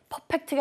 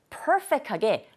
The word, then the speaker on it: perfect: 이번 기회에 perfect가 아니라 정말 perfect하게 perfect라는 발음을 perfect로 바꿔주시기 바랍니다. 해보세요. Perfect. 첫 번째 이 부분을 강조해 주시면 돼요.